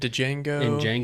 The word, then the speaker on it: Django: name i can't remember he's in django he's in hatefulness the d is silent man he says it